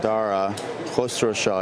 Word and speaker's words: Dara Khosrowshahi: role that's very important the the new CEO darah cluster Shaw in case anyone wanted to know how to pronounce it is a fellow Iranian American and